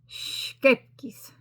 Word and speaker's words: Scheepjes: Now, I did have somebody who was Dutch who told me how to pronounce it. And they said that though they could tell me how to pronounce it, I would not be able to say it correctly, completely correct, because I do not have the Dutch accent, which makes sense. So, the way I was told, scheepjes. That's the way I was taught by someone who is Dutch.